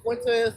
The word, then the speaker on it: Fuentes: Nick Fuentes.